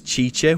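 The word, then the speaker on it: Cice: Her name is Chiche, which is spelled C-I-C-E.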